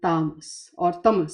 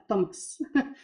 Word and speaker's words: tamas: These are also known as the three gunas or qualities of sattva, rajas, and tamas. Sorry. Ah, get caught up in the English pronunciation. It's sattva, rajas, and tamas.